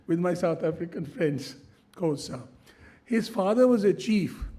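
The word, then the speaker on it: Xhosa: the Timbu or the I have to say Kosa very difficult to pronounce that phrase. I learned a bit of that in England with my South African friends. Kosa his father was a chief of their tribe.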